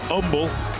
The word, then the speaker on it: Humble: out there Huntsville at Umble of course you're from that Houston area you got to know you don't pronounce that H you got to say Umble but they are trailing